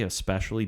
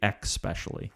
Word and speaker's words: especially: Do say especially, don't say especially.